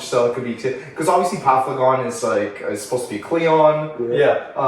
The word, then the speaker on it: Paphlagon: How do you pronounce it? Paphlon. Hold on. Paphlagon.